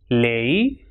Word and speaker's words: ley: And when it comes at the end of a word or when it comes alone, it will pronounce as e, like rei, lei, guay, delante y detrás.